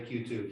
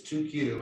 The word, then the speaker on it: 2Q: Sometimes I say Q2, but it's 2Q.